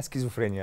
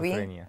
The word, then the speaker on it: سكيزوفرينيا: غالب يعني ايه شيزوفرينيا هو اسمها سكيزوفرينيا اللي هو النطق بتاعها شيزوفرينيا هوط اسكيزوفرينيا حتى بالعربي بالعربي بيكتبوها شيزوفرينيا شيزوفرينيا اه احنا اح مصطلح شيزوفرين بالانجلش سكيتسوفرينيا اه لان هي كلمه الماني اصلا اوكي اص سكيزوفرينيا بس الناس اللي بتنطق باللغه الدارجه يعني قصدي في البيوت او كده بنقول شيزوفرينيا اه هو للاسف يعني